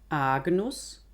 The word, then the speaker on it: agnus: Das N verändert das G. Agnus, agnus.